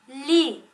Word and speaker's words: lit: Sur le lit. Le T ici est muet. Alors, il ne se prononce pas.